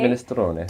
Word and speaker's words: minestrone: But in the UK, minestrone. Definitely we say minestrone.